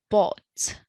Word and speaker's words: bought: another irregular verb yes we bought so ght we bought the gh are not pronounced it's like you only